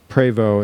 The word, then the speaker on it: Prevost: be a Prost uh preo is way they most purists pronounce it P Prevost p r